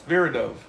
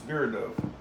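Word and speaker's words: Viridov: a Chulas trapis is a street can you pronounce my last name ver verid do it's ver do my guess I want to see it is Vivian it's ver do s v i r i d o v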